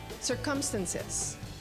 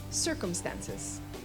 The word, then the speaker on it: circumstances: Pronunciation number 1, circumstances. Pronunciation number 2, circumstances, which is correct.